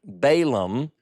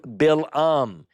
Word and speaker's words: Balaam: You notice how I changed the name subtly from my southern Balaam, which is the way I learned to pronounce it growing up, to Balaam. Balaam is actually the seer of talking donkey fame's name according to Semitic language, Balaam.